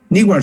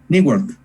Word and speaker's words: Newark: es cardenal obispo de, yo no sé cómo se pronuncia, ustedes sabrán más que yo, los muchachos, porque yo para el inglés no sirvo mucho, o nada. Newark se dice, Newark, Newark, él es de ahí.